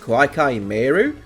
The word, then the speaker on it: Koa'ki Meiru: Also, this isn't related to anything really, but do you know why it's pronounced Koa'ki Meiru?